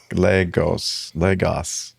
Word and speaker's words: Lagos: It's got 2 whole syllables. Lagos. Your leg.